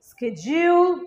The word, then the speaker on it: schedule: সঠিক উচ্চারণ কিন্তু schedule or schedule. Yes, you heard it right. Schedule or schedule. Jule, dual না, spelling A ডি আছে, উচ্চারণে হবে জে।